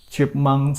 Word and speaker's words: chipmunk: So Chipmunk has two syllables. There is chip and monk. There is chipmunk, chip and monk. So if you read the Chipmunk, you shouldn't read it from chip. You should read it from monk.